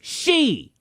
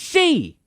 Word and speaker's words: Xi: The man goes by President Xi, Roman numerals for 11. Oh Lord, no, Felix, it's she. Okay, Stone. First of all, the president of China is a he, not a she. I KNOW THAT, FELIX. I'm saying that the man's name is pronounced she.